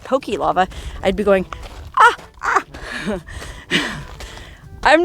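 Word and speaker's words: ʻaʻā: difference between the two is aha which is spelled a a I think it's a Hawaiian word aha is the rough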